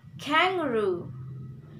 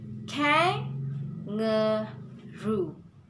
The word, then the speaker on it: kangaroo: And last syllable, it's different with first and middle, because in last syllable, not only last in last syllable that have to stress, but first syllable we have to stress, like kangaroo, kangaroo, like that.